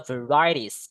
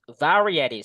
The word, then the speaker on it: varieties: Bacanya varieties, not varie, but varieties.